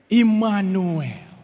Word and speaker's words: Immanuel: Bacanya Immanuel.